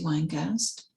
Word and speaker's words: Weingast: um or by Matty winegast last name is spelled w-e-i-n-g-a-s-t Matty wine ghost and these are poems